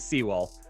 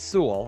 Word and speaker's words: Sewell: when i first couple times i heard it pronounced it was seawolf and then it is sewell okay we know that but i've been messing